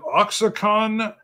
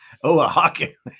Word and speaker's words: Oaxaca: how would you say is it oxic on corn flocking o Hakan I'm so close Wow not even in the ballpark there's always terrible Oaxaca Oaxaca I made it like